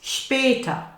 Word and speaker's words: später: And notice the ta. Bis später.